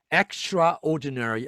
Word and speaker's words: extraordinary: extraordinary 아니고 extraordinary.